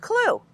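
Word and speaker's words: CLWE: A simple way to remember the 4 steps is C, L, W, E, pronounced CLUE.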